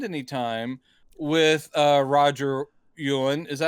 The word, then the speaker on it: Yuan: But I will say the problem is the movie doesn't spend any time with uh Roger Yuan. Is that how you pronounce his name? Roger. Yeah. Yuan.